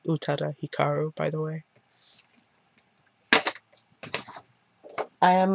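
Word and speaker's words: Utada Hikaru: love with utata Hikaru I've only recently started pronouncing her name utata Hikaru by the way I am the proud owner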